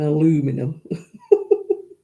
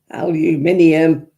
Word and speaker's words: aluminium: Don't get me started on aluminum. Aluminium. Stop missing the middle out.